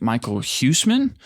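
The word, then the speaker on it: Michiel Huisman: might work is um I think it's pronounced Michael Husman.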